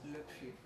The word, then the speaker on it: Le Puy: We've been here in Le Puy, is that how you say it? Le Puy, yes.